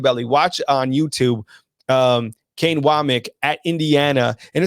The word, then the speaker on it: Wommack: And yes, it is pronounced Wommack. I know it's spelled Wommack, but I was corrected on that. It is Wommack.